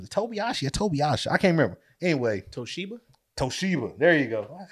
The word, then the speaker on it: Toshiba: Toshiba. There you go. Why did I say Tobiashi? Anyway, I don't know. I had a Toshiba.